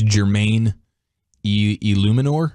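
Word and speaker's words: Jermaine Eluemunor: It's Jermaine Illuminor. Oh, Illuminor, yeah. Illuminor, is that how you say James his name? Illuminor. Yeah, tackle from there. Jermaine, yeah, Jermaine Illuminor.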